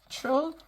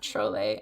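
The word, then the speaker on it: Trolle: say her name and I know it's not Trole. I know it is like troll, but I can't quite get that that L sound. So, I'm just gonna call her Troll.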